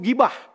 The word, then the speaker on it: gibah: Bahasa Arab itu setelah huruf G ada huruf H-nya. Gibah gitu ya, tapi bacanya gibah. Kalau di bahasa Indonesia diserap hilang H di depan, jadi GI langsung, tidak pakai GHI.